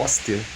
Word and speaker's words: Hoster: A pronúncia é Hoster.